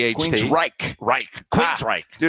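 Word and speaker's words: Queensrÿche: You can't You can't say it like it's two words. It's one word. So, um, give me Queen's Reich in one syllable.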